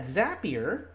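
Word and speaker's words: Zapier: if you're not a coder I know that zappier now that we know how to pronounce it we know that zappier has a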